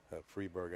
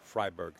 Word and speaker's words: Freiberg: We're talking with Josh Freeberg on the side here. The right pronunciation is Freiberg.